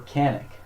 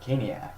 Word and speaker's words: Caniac: But I actually asked the lady at the register, what's the proper way to pronounce it, and she said Caniac.